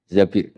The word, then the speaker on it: Zabir: di hadis ini bukan bacanya bukan Zubair tapi Zabir Abdurrahman Bin Zabir tapi